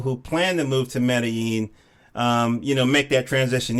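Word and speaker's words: Medellín: So, when you're in Latin America or Central America, the two L's are pronounced as a Y. So Medellin. Medellin.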